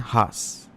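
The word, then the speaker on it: Xaj: सबसे पहला यहाँ पे न्यूज़ असम ट्रिब्यून से लिया गया है रिगार्डिंग हास। देखो वैसे इसका लिखा जाता है ZAJ राइट, बट इसका प्रोनाउंसिएशन हास बोला जाता है, जो क्या असम स्टेट का एक ट्रेडिशनल वाइन आप बोल सकते हो राइट।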